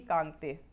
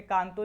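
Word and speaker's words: Kangto: Highest peak कहाँ मिलेगी, कांगते। ठीक है, वैसे कांगतो लिखते हैं इसे, लेकिन यहाँ के लोग कांगते प्रोनाउंस करते हैं तो हम ऐसे ही लिखेंगे, ये है कांगते।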